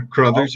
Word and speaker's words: Crothers: And with me today is Crothers. Am I pronouncing that correctly? You are Crothers, yes.